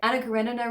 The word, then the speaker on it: Karenina: yeah that's how you say it Anna Karenina retelling I don't know really anything about Anna